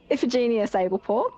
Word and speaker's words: Iphigenia Sablepaw: So, Iphigenia Sablepaw, that's how you pronounce her name, goes by Fig.